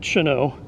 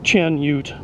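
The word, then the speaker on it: Chanute: n u t and he's French so I'm going to pronounce it shano but if you want to be lazy like I usually am you Chen Ute anyway visited San Diego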